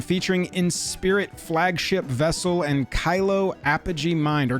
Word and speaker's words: Kilo: The Counterintelligence Precon featuring Inspirit Flagship Vessel and Kylo Apogee Mind, or Kilo. I've been criticized. Call it what you want. I've been pronouncing it Kylo like the Star Wars character.